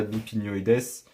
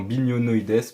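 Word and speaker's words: bignonioides: cette fois ça va le catalpa bipinoïes non bignonoïes pardon pourquoi parce que il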